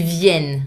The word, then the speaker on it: viennent: Vous venez, ils viennent. The I is back and open A sound. Please, no ENT final. I mean, do not pronounce it.